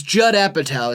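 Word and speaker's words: Apatow: It's Jud Appattow is how you say that. I just found that out. Yeah. Yeah. I was saying Judeu for for years.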